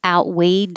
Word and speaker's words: outweighed: something was different so you do have to put your tongue in the t position out hold it a little bit wade and hold the d you wouldn't hear the final d unless there was a word after it with a vowel like outweighed our decision outweigh dar and the